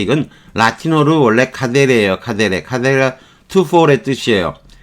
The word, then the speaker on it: cadere: 라틴어로 원래 카데에 카데 카데 투포의 뜻이에요 라틴어는 항상 K 발음하니 카데 이렇게 되는 거죠 투 4인데 이게 불어로